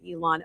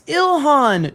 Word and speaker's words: Ilhan: A major development this morning related to the long-standing immigration fraud allegations involving Congresswoman Elon Omar. News or Did she say Elon? It's Ilhan.